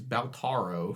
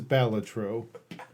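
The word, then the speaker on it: Balatro: kept going back a game that I kept mispronouncing as Balo for a while it's really it's actually pronounced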